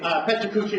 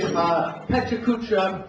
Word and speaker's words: Pecha Kucha: We have a lineup of 6 speakers doing Pecha Kucha, or perhaps a better pronunciation is a Pechachka.